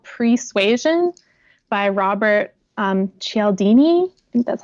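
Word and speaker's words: Cialdini: so good it's called pre suasion by Robert eldini that's how you say it and it's about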